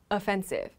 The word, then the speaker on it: offensive: side that's attacking but there's another word that is offensive so it has the same spelling right but the pronunciation of this word is always offensive so this word means